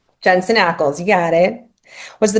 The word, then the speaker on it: Jensen Ackles: Is it Ackles? Is that how you say it? Yeah. Jensen Ackles.